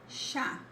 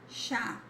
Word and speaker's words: chá: It never sounds like ch, like ch in chocolate. It sounds like sh, as in she or shy, okay?